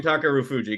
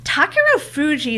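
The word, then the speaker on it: Takerufuji: Japanese never emphasize the U sound unless it's a U by itself, because they have subtle U sounds.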